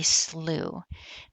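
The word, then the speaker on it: slough: And that is because our lot is on a slooh, which is spelled s l o u g h.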